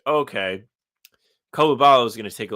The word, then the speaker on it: Coulibaly: You probably have 2-3 years away where it's okay, Coulibaly is going to take a little bit of a jump.